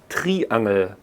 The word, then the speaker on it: Triangel: Well, a lovely instrument which you probably all know is the triangle, Triangel. It's nearly the same spelling, only the pronunciation is a little bit different.